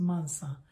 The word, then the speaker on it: Mansa: soft it's not a z so it's a mansa so to pronounce it think of mensah the brainy people